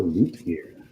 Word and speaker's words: Lutger: Mondo Lootgear. Is that spelled with two O's or is that L-U-T?